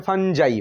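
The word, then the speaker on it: Fungi: এখানে আছে ফানজাই, ফানজাই উচ্চারণ লেখা আছে ফানজাই, ফানজাই মানে ব্যাঙের ছাতা এবং অন্যান্য সব ছত্রাক রাজ্য হলো এই ফানজাইয়ের মধ্যে পড়ছে।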